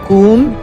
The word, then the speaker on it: Com: un espíritu inmortal inmortalidad com pronunciado kum denota la idea de